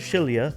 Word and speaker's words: Xillia: Now, Tales of Shilia, spelled with an X, mind you, um basically came out on the PS3 alongside basically in that generation.